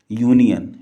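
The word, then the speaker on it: union: जगह यू है लेकिन हम यहां पर इसको क्या प्रोनाउंस करते हैं यूनियन य और यह क्या है कंसोनेंट साउंड इसलिए इसके पहले ए का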